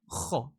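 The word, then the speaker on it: خ: Kho, you need to make sure your throat vibrates. Kho. It goes to the back.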